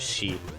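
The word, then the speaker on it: 四: Shi is what's supposed to be the onyomi reading. So normally that's how you would pronounce the number, but people don't generally pronounce 4 as Shi. They pronounce it as Yon, which is the kunyomi reading.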